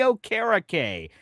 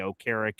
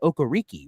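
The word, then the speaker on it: Okereke: So you got old Bobby here and I'll give you all the statistics on one Bobby O' Carrick here uh coming out. people mispronounce his name as Bobby Okariki, which I think sounds pretty cool, too, but that's neither here nor there.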